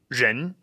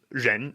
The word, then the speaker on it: Rén: And what he's asking is, okay, you start off with your tongue curled back, like all R pronunciations, as you'll see in the videos. And he asked, should it stay there while I pronounce the whole syllable? Yeah. Well, I mean, technically it does move, but it only moves because the jaw moves. The jaw moves very slightly in order to transition to that un.